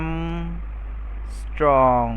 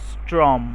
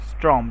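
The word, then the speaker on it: ångström: কেউ বলে হচ্ছে ম স্ট্রং। ভুল। আসলে এর যে উচ্চারণটা বা নামের উচ্চারণটা নট নেসেসারি বাট আমরা সঠিকটা শিখবো না অবশ্যই এটার উচ্চারণটা হচ্ছে এইরকম ং স্ট্রম ং স্ট্রম ঠিক আছে ং স্ট্রম ংস্ট্রম জিনিসটা কি ংস্ট্রম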